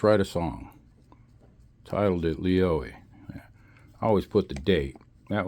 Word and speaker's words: Lioi: Leo, that's how you pronounce.